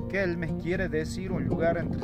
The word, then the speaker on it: Quilmes: cacam sí ampajango o kilmes que la palabra original se pronunciaba kelmes quelmes quiere decir un lugar